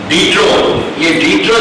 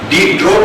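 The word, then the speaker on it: Diderot: डीट्रो जो है ये भी दार्शनिक आते, फ्रांस के आते। ये इनकी स्पेलिंग डीट्रोट करके आवे, पर उनको उच्चारण डीट्रो की हो जाए, तो ये फ्रांस के आते।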